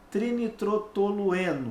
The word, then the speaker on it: trinitrotolueno: antepenúltima ela é proparoxítona qual é a sílaba tônica da palavra trinitrotolueno on é a sílaba representada pela letrinha é o cetim ali ó então a não é a última e sim a penúltima portanto ela é uma paroxítona gabarito letra e questão